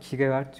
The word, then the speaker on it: Kierkegaard: Kierkegaard'ın, sen farklı telaffuz ettin ama ben hep Kierkegaard diyorum. Kierkegaard, ya o zaten Danimarkalı olduğu için isminin orijinalde telaffuz edilme biçimi Kierkegaard gibi bir şey ama Kierkegaard diyebilirsin. Ben de arada öyle söylüyorum.